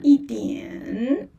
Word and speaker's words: yi dianr: e dianr or yi dianr d i a n dianr dianr yi dianr wo hui shuo yi dianr and there's r sound in the end.